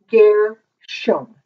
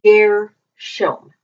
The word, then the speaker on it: Gershom: So this is pronounced Gershom. And we usually read it in the Bible as Gershom or Gershom, but it's Gershom.